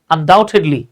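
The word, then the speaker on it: undoubtedly: নিশ্চিতভাবেই আনডাউটেডলি এই দেখেন এখানে বি কিন্তু সাইলেন্ট থাকবে আনডাউটেডলি এই শব্দগুলো আমরা ব্যবহার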